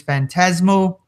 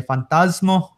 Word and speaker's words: Phantasmo: His name is Phantasmo, or in Spanish, you would say Fantasmo. Yeah, you got to put that accent on there.